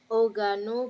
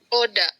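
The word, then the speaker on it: 織田: Oda. Oda ya, bukan oga.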